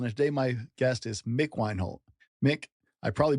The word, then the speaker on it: Mick Wienholt: I'm your host, Brent Don, and today my guest is Mick Weinhold. Mick, I probably butchered your name.